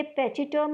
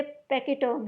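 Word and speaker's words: pachyderm: ये पैचिटर्म नहीं है, ये पैकिटर्म है। पैकिटर्म इसे प्रोनाउंस करेंगे।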